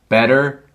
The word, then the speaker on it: better: t's sound like these better bitter butter they don't really sound like t's they sound like these and you say and